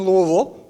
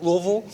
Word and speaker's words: Louisville: My great-grandfather was born in Louisville. I pronounced that correctly, right? Louisville?